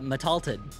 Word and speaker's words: Metalted: Yeah, Metalted. That's how you pronounce his name.